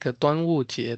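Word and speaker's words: 端午节: Dragon Boat Festival is Duanwu generally, we will pronounce it like Duanwu Jie.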